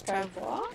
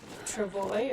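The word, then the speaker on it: travois: I I keep flipping back between the French way and the English way. French is Travo and English is Travoy or Travoy. Um, depending on who you talk to. So, this is Canada. They we pronounce things all sorts of ways.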